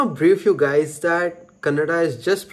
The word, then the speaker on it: Kannada: I just want to brief you guys that kannada is just pronounced as kannada kannada not kannada we don't